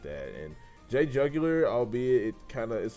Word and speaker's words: JayJugular: I know a lot of people can say Jayjugular. It's not Jayjuoo, it's Jug. So just to everybody who can get like an insight on how to say it, it's Jug, not Jug.